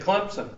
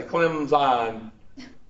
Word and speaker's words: Clemson: No, you said Clemson. If you're a dumb racist southerner, you put the P in it.